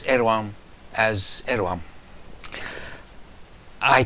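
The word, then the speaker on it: Erdoğan: Incidentally, I'm assured that despite the D, the G, and the N in the English transliteration of his name, you pronounce Erdogan as Erdogan.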